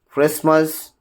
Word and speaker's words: Christmas: The letter T is not pronounced in the following common English words like castle, Christmas, fasten, listen, often, and then beret, and then chevrolet, and then whistle, thistle, bustle, hasten, soften, rapo, ballad, gourmet. In all these cases, we just do not pronounce T.